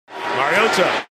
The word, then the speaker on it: Mariota: Do you prefer to say Marcus Mariota or Marcus Mariota? Do you prefer to say his last name with the T pronounced like a D or with the T pronounced like a T?